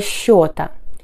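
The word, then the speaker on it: счёт: 1 – начало счета. 1 – c'est le début du décompte. 1 – это начало счета. Pensez à bien prononcer ce, comme en sh, счет.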